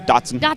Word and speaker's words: Datsun: This 1983 Datsun. Did I say it right? Yeah, Datsun. Datsun.